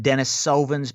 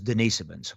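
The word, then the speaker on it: Denisovan: bizarre um and it some people call it Dennis svin because they're trying to um well the real term is denans okay so it's spelled like Dennis Soven and and it and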